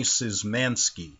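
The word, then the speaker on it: Szymanski: different names now my name is anthony zizmanski last name is spelled s z y m a n s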